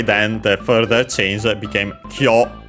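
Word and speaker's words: 今日: Then we have Kyomo I shashin o tanomu zo. First and foremost we have kyo, which is the word which means today. Accent on the first syllable, yes, as I remembered.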